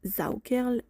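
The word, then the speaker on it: Saukerl: Zaerl prononcer Zaokerl S a u k a r i r.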